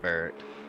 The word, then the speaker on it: Barrett: It's like Garrett, but with a B.